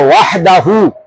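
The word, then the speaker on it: وَحْدَهُ: কইছিল ওয়াহদাহু না ওয়াহদাহু ওয়া হা জবর ওয়াহ দাল জবর দা হা পেশ হু ওয়াহদাহু হ্যাঁ বলেন সাইফুল্লাহ ভাই বলেন লাহুল মুলকু ওয়া লাহুল হামদু ওয়া হুয়া আলা কুল্লি শাইইন কাদির।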